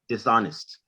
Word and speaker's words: dishonest: saying dishonest okay that that h is silent so pretend that h is pretend the h is not there dishonest dishonest dishonest okay so